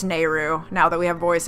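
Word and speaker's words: Nayru: was talking about and I know an ocarina of time are pronounced at NAIRU it's nehru now that we have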